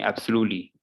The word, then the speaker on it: absolutely: you can see that i'm not like completely completely missing the t i'm just kind of just touching it i'm not saying absolutely no absolutely so i need to just you need to to be able to pronounce like that you just need to